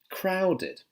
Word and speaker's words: crowded: Now I've done a live stream on ed sounds before, so this one's id.